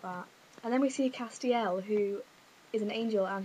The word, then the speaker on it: Castiel: out of hell now when I first heard about this Castiel I pronounced his name Castile does anyone else do that I might just keep calling him Castile because in my view that is how it should be pronounced so I might just